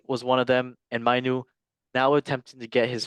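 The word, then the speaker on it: Mainoo: Manu.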